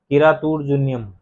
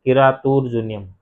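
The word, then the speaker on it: किरातार्जुनीयम्: जैसे इसका अलग अलग शब्द करोगे ना, तो इसमें देखो, एक तो है किरात और एक अर्जुनियम, यानी शिकारी और अर्जुन, शिकारी और अर्जुन के संवाद के बारे में है ना।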